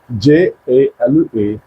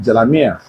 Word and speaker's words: Jalabiya: So, Jalabiya is spelled as Jalabiya, Jalabiya. Jalabiya. Then some persons also call it Jalamia, right?